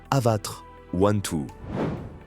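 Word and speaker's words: Avatr 12: On la prononce Avatar 1-2.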